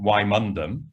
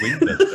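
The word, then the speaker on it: Wymondham: used to work in in why mundum and know how to say it properly because i know it's windows i usually work there and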